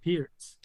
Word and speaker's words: Pirc: states and most europe it's known as perk defense but it's not really perk it's actually pierce huh it's the grand